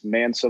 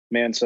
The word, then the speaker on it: MXNSA: So if y'all want to follow me, it is Mansa Vlogs. It is spelled very annoyingly, but it is MXNSA Vlogs, VLOGS.